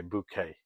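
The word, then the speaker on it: Bucket: reminds me of ient booket from Keeping Up Appearances or should I say bouquet as she insists on pronouncing it she's such a perfect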